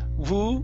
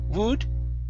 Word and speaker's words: would: Right up above, instead of woo, would. Okay, it's an U sound with a D at the end.